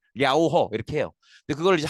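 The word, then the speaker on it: 遼河: 중국어 발음으로는 뭐 정확한 발음은 아니지만 랴오허 이렇게 불러요. 이거 물론 이제 중국어 하시는 분들은 좀 더 정확한 발음을 하시겠지만 한글로 중국어 발음을 한글로 쓰면 대충 그렇게 해. 랴오허 이렇게 해요.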